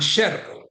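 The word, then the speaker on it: yerro: We make a clear distinction. for example between yero and sherro. Yero means iron, sherro means mistake. And that is something that doesn't happen in other Spanish accents. They tend to pronounce both as yo.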